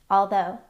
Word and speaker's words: although: Some words that have the same spelling pattern and rhyme with though are dough. Dough. They made homemade pizza dough. Although.